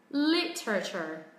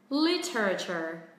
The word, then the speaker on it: literature: Thứ nhất là nó có thể là có 3 âm tiết, hoặc theo cách phát âm thứ hai thì nó sẽ có 4 âm tiết. Trọng âm rơi âm tiết thứ nhất. Li. Đây. Literature. Literature. Literature. Còn cách thứ hai. Literature.